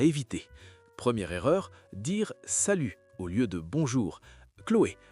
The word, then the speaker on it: salut: C'est la même chose pour salut, le thé est muet ou petit, le thé est muet au masculin.